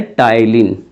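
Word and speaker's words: ptyalin: आपने क्या देखा बच्चे, इनको हिंदी इंग्लिश दोनों में सेम कहेंगे, बस इसमें ये पी साइलेंट है। इसको क्या लिखा जाता है, टाइलिन, ऐसे टाइलिन एंजाइम।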